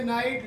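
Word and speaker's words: knight: के साइलेंट होता है एन से पहले अगर के आए तो के साइलेंट एन आई जी एच टी रात होता है और के एन आई जी एच टी बोलोगे नाइट लिखोगे योद्धा है ना एन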